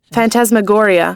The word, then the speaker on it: phantasmagoria: NT ASAS m m AG o RI a phantasmagoria it's a sequence of real or imaginary images